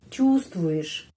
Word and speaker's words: чувствуешь: Чувствуешь penеkanannya di sini. Чувствуешь. Di sini чувству dan ada huruf Y, ya.